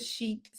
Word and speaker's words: chic: So the word chic, CHIC, the pronunciation of chic is SHEK.